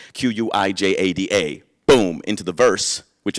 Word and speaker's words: Quijada: Quijada spelled with a Q, not a K, not spelled with an H, but a J. Quijada.